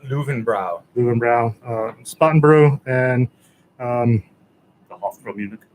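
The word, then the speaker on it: Löwenbräu: So Augustiner, Ackerpschur, Lowenbrau, Polyender. It's actually pronounced Löwenbrau.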